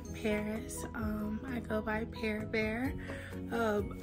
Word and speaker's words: Parrbear: um I go by pe bear um I know it's spelled par bear but I pronounce it pear bear and I'm so excited